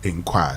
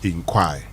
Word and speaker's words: enquire: And it's pronounced as also as inquire. So while this probably you probably may think is enquire is also pronounced as inquire.